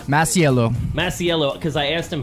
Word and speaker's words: Masiello: Like all through growing up, they were like Masiello, and I'm like, where's the extra syllable?